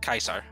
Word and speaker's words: Caesar: yes uh rinky is right uh Caesar is pronounced quesar or Kaiser kaisar that's so cool wow